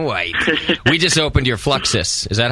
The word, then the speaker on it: Fluxus: and drinking a white we just opened your fluxus is that how you say it yeah fluxus exactly yeah it's a nice beer it's funny